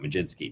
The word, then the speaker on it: Mlodzinski: To the night slate, we'll start with the Pittsburgh Pirates and Carmen Mlodzinski, excuse me, not spelled how you pronounce it, but here we go. Mlodzinski next.